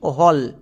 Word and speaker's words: whole: এবং এল এর জন্য লো, শেষের ই সাইলেন্ট। তাহলে এই ওয়ার্ডের উচ্চারণ কী দাঁড়ালো? WHOLE, হল।